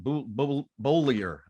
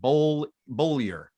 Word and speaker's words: Bullier: Bolyer. That's the way we pronounce it. Bolyer. I asked him.